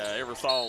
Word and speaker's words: Eversole: We understand it's Eversole, but the Eversole is how you say it here in the mountains, brother. Eversole will go back to the line.